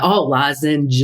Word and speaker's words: lozenge: Yeah, let's say, lozenge. Yeah. Got to add that, G at the end. Soft G.